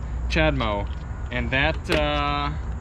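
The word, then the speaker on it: CHAdeMO: cars to use what's called chad mo charging c-h-a-d-e-m-o i'm pretty sure it's how it's spelled chad mo and that uh it's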